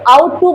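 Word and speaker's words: ought: हैं बाबू ठीक है इसका स्पेलिंग में ओ यू जी एच टी है लेकिन आप ओ यू टी पढ़ते हैं जी एच साइलेंट है आउट टू बोलते हैं जिसका मतलब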